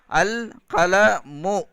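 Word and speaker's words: القلم: அல் கலமுன் அப்படின்னு சொல்லக்கூடாது. அல்லும் தன்வீனும் ஒன்றா வராது. அல் கலமுன் அப்படின்னு வராது, அல் கலமு அதான் கரெக்டு.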